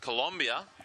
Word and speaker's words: Colombia: And it's pronounced Colombia. Colombia. That's right.